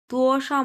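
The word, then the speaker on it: 多少: এক number ton. সাও neutral ton.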